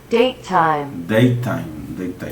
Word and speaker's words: datetime: Y lo pronuncio Datetime.